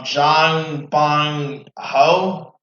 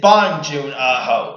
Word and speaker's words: Bong Joon Ho: Alright, it is of course director Jang Bong Ho. Hope I'm not mispronouncing his name wrong. But it's June it's Bong Joon Ho.